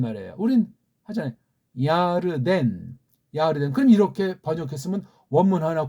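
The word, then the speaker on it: ירדן: 우리 흔히 보통 교회에서 장례식 같은 거 할 때 요단강 건너가 만나리 그런 찬송들을 흔히들 많이 부르잖아요.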